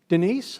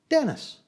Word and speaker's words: Denise: I'm from India and how would I pronounce Denise I'd pronounce it as Dennis if I wasn't paying attention and if I didn't